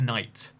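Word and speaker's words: knight: The silent K noise used to be pronounced. It used to be a knite, a knob, etc.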